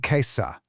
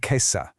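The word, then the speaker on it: कैसा: Listen closely to the pronunciation here, especially how the vowels at the end sound. Kaise, kaise, and kaisa. I'll say that one more time. That's kaise, kaise, and kaisa.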